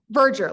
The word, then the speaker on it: Verdure: Verdure, like merger, but with a V.